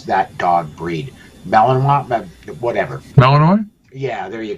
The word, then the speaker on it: Malinois: 12 gauge and a Malinois dog for home defense, and I cannot pronounce that dog breed. Malinois, whatever.